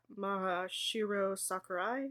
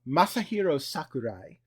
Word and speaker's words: Masahiro Sakurai: them Sora LTD I.E Maha Shiro Sakurai oh you butchered that so so it's okay it's okay say it don't cry so Masahiro Sakurai who is best known